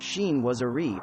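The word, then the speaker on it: chinoiserie: often elaborate designs of shinwasri pronounced sheen wasari or western takes on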